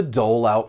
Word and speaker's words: dole out: When pronouncing this phrasal verb, you should know that linking is going to occur, and we can link the final consonant sound in dole with the beginning vowel sound in out.